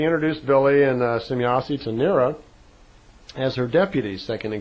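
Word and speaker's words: Nera: a moment, and I'd like you to meet Nira. And Nira, and it's spelled N-E-R-A, she's a dark brunette-looking woman, very nice-looking woman, and I'd like you to meet Nira.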